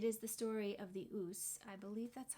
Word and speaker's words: Ouse: This book also ties in with my Virginia Woolf curiosities because it is the story of the Ouse, I believe that's how you say it, O-U-S-E River in Sussex, in which Virginia Woolf drowned in 1941.